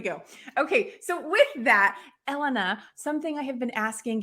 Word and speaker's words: Elena: Well, Elena, and I want to say to everyone that that yes, Elena's name is pronounced Elena, not Elena.